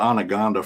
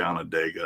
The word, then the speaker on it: Onondaga: I called it Anaconda forever, and everybody let me. And then I heard somebody say Onondaga, and then I actually looked at the spelling and was pronouncing it. And I was like, oh, I've been a fool for like a year now.